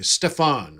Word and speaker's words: Stefan: Okay, pronounce it the German way, Stefan, right?